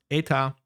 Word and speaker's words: eta: normal and this other weird Greek symbol pronounced eta and eta prime are the refractive indices.